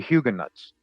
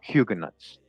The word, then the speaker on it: Huguenots: So in my old videos, I used to say Huguenot. All right, so don't kill me, okay? I say it correctly now, Huguenots.